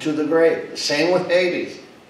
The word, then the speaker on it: Hades: And Hades, that's the actual pronunciation, the Greek term that is transliterated in the English pronunciation, Hades.